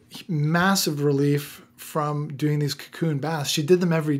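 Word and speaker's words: Kaqun: I believe it was developed in Hungary, and it's called Cocoon. It's spelled K-A-Q-U-N, Cocoon.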